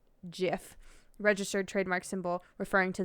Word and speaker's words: Jif: peanut butter claim jif as their own it's pronounced jif registered trademark symbol referring to the peanut butter